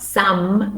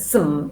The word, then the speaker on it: some: new moon number six sum is not some but some weak form some hot soup and